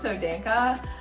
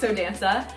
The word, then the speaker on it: Danca: I think some people pronounce it Danca, but I say Danca.